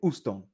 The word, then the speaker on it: Houston: Houston right or Houston you might hear some people say uston right because that age is silent in Spanish rice so she Susie